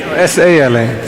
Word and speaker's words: Sala: S-A-L-A. Sala. Sala. Thank you. Eh? That's a pronunciation in Uganda, yeah?